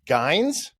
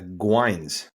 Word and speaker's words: Guynes: Jared Guynes? Oh, swing and a miss. It's Guynes. Guynes. Okay, well, Yeah. not phonetic, so Jared Guynes.